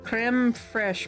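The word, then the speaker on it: crème fraîche: with some creme fresh. Boba's good, too. All right, there we go. That's in the food tracker. Gelatin powder plus brewed coffee. Okay. Oh, yeah. Agar. Sweet. It's pronounced creme fresh, but it's French.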